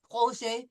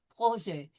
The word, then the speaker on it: projet: No pronouncing of the T, projet, soft J sound, projet.